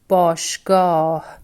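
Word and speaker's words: باشگاه: Again, here letter he exactly sounds he, hasn't joined the letter B for it, which is letter alif, and the word is pronounced bashgah.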